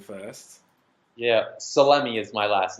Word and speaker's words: Salemi: Salemi is the way the way it's pronounced.